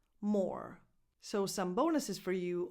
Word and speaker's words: Moore: Moore. This last name is pronounced just like the word more with one O. Moore.